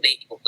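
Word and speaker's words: 米国: Ini tuh dibacanya tuh Beikoku ya.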